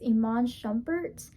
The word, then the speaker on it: Iman Shumpert: I think I said it wrong last week, so I think it's Iman Shumpert and Daniella.